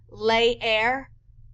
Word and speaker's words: leer: And a double E, which is the most rare, E's sound like A's, so you're going to pronounce it both times. Leer or creer.